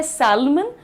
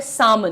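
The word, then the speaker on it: salmon: में पता नहीं है, लिखा जाता है सैल्मन लेकिन होता है सामन। The pronunciation is सामन everyone.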